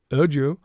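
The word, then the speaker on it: Erdoğu: You don't pronounce the G. Erdu who directs the excavation called the discovery unprecedented.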